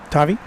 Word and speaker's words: Tavi: Um uh did I pronounce it right? Tavi. Tavi.